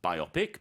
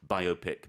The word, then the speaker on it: biopic: I think that's why I automatically think of biopic, but you can say biopic. Both are acceptable.